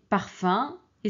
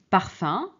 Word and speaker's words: parfum: alors cas particulier c'est parfum et symbole alors regardez parfum c'est avec um mais on prononce parfum euh on prononce pas parfume et ici ce n'est